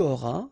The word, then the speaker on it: auras: J'aurai, tu auras, final S not pronounced, il aura, elle aura,